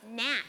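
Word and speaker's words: gnat: you are a g the g is silent it's Gat are you calling me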